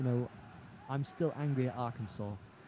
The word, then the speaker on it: Arkansas: There's, like we were mentioning this yesterday, and you know, I'm still angry at Arkansas. It's written Arkansas. In no one's right mind should someone pronounce that Arkansas.